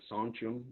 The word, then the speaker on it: sachem: The word sachems is something that Sonchum is how we pronounce it in our language, one of many dialects